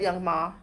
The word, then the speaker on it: Young M.A.: Why does everyone say her name wrong? It's M.A. Young M.A. I think she says it both ways.